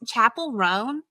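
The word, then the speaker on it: Chappell Roan: I also, is her name pronounced Chapel Roan?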